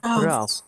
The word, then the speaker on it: drought: Coba bareng-bareng ya, drought. Drought. Drop. Drop. Drop. Nah, Drop. walaupun tulisannya drought ya teman-teman ya, tapi bacanya adalah drought.